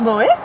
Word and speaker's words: Moxhet: Tu dis Moët alors que ça s'écrit XH, comme de Xavier.